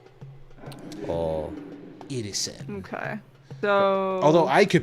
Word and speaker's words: Irrisen: Irrisen, it's spelled exactly how it sounds, Irrisen.